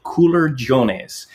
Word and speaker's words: culurgiones: So it is called, and I've got my pronunciation better now. I worked with our waiter in Sardinia. They are called culurgiones, culurgiones, culurgiones.